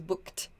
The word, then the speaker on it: booked: this past tense booked the pronunciation of this is booked it's a t sound not booked but booked booked so i booked a